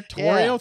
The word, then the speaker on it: Torio: Torio, three syllables.